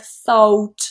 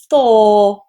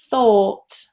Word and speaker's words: thought: The fourth one is thought. Now what a lot of students do is they get influenced by the spelling here and they say something like thought and they pronounce it as a diphthong with an O